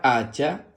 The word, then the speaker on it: hacha: una hacha muy bien la palabra hacha se escribe con h a que suena a Así mismo porque recuerda que la H cuando está sola es muda luego ch a que